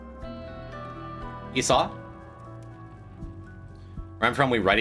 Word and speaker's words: Esau: Esau.